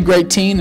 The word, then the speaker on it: GREATEEN: So 20 GREATEEN is like great rhymes with eight.